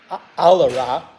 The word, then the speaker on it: Alara: esper The Shard of Alara I just put that in there uh dual brain MTG pronounces it alera which is maybe correct too um I'm not sure